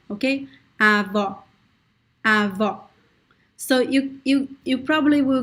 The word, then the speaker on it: avó: So one tip is to pronounce the open O as an open A. For example, you could say avá, avá. And then try to close it a little bit. Avá, avó.